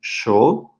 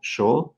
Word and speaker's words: yo: differences for Aires so you might already have heard different pronunciations of yo for instance there is yo yo there is also a different way to pronounce it especially in Argentina in Rui and in